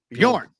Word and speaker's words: Bjorn: It's the J is silent, right? It's Bjorn. Bjorn.